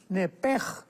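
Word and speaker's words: נֶפֶשׁ: porque es la palabra nepesh con sh al final. Neph. En el hebreo se pronuncia eh la sh con j. Entonces, la pronunciación hebrea es nepej.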